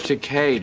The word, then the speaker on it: Takei: be so much fun george sakai is going to be there and everything no it's george takei people have been saying it wrong for years